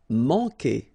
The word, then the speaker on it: Manquer: Manquer. Okay, remember when we get this Q, after that automatically we get this U, but then we don't pronounce the U, okay? So manquer.